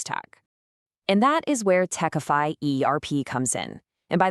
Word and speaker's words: Tecfy: And that is where Techfy ERP comes in. And by way, it's pronounced Techfy, like simplify.